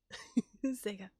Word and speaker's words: Sega: Sega. Gotta say it like the commercial. Sega.